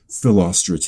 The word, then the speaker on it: Philostrate: they're like, okay, no, if you look at the syllables of this name, it's unstress, stress, unstress, stress, unstress, stress. Philostrate is what it came out to be.